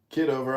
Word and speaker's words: Kitover: here the the other John John is it kiddover or how do you pronounce kiddover I'm running for Congress in Illinois 16.